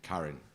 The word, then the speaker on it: Karin: nervous Jenna Jenna and Karin yeah with a car yes like Kenny right